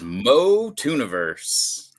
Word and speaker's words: MOTUNIVERSE: It is Mo Tuniverse.